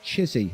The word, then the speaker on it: Chissy: Saying Chissy is pronounced Chissy, like Dave Chisnell in the darts.